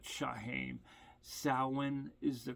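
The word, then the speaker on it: Samhain: If you run across one of my previous videos where I'm pronouncing it, Shahim, uh, a a fellow pagan pointed out to me it was called sin, not Shahim. sin is the correct pronunciation.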